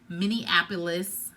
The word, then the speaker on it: Minneapolis: They're all going to Minneapolis.